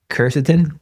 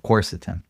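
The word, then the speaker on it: quercetin: Uh is it coretin? Corsetin. Corsetin. There you go.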